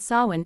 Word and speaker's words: Samhain: Long before Halloween, ancient Celts celebrated Samhain, pronounced Samhain, marking the end of harvest and the arrival of winter, a season associated with death.